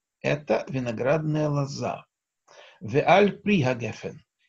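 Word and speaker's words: גפן: Слово гефен – сеголатное. Что это значит? Там, где мы слышим «э-э», или это сегол, сегол, как здесь. Сегол – это огласовка три точки. Или это, например, цейре сегол, как в слове сефер, книга. Да? Ударение падает на предпоследний слог. Гефен, а не гефен.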